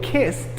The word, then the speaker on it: kissed: Entonces, si yo digo kissed, termina como una T.